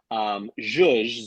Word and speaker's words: Zhuzh: Zhuzh, Z-H-U-Z-H, which no one can pronounce, spell, say, I have found is the bane of my existence of naming it this.